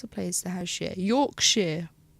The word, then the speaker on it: Yorkshire: Yorkshire, but it's spelt Shire. It's Sheer.